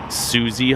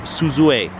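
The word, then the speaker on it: Suzue: good rims and we used to call these Susy hubs but they're not there Suzu a isuzu a sealed tech hubs these are pretty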